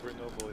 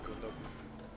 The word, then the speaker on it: Grenoble: But instead of bull with BLE, it's just bl. So instead of Grenoble, it's Grenoble. Grenoble.